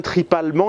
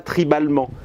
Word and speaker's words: tripalement: Je dis bien tripalement et pas tribalement.